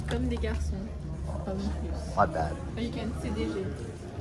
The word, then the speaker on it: Comme des garçons: How are you supposed to say it? Comme des garçons. Comme des garçons.